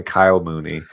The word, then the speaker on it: Kyle Mooney: his name it's definitely Kyle Mooney okay um there's a knee at the end so I might have